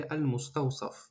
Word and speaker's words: المستوصف: المستوصف یعنی سین هسته بعد صاد هسته. خطا غم نده، این قرآن نیسته که ما هر یک چیکار کنیم حرف با تجوید بخونیم. نه، این خطا. این کتابی عادی های، این گفتگوی عادی های. شما میتونی همین ساده سین تلفظ کنی. بعضیا میگن اینقدر کلمه دشواره، المستوصف با صاد باید بگی. نه، میگیم عادی های. خطونه غم نتی، خطونه در دشواری دچار نکنی. میتونی سین بگی المستوصف.